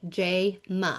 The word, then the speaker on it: Jayma: Like, because to me in my mind, I just think it's so easy to pronounce because it's spelled phonetically. J-ma.